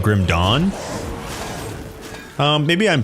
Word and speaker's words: Grim Dawn: You're you're you're supposed to like draw it out, but you don't say dw, I guess, if that's what you're talking about. You almost pronounce dawn d o n and d a w n. This almost the same.